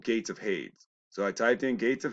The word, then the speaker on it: Hades: now remember Zeus Presidium and hates they call him Hades there's that's that runs with ladies there's no IES at the end of that they're mispronouncing out on purpose hates rhymes with shade all right these are